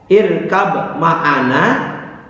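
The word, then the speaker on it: ارْكَب مَعَنَا: Contohnya irkab ma'ana dibaca irkam ma'ana.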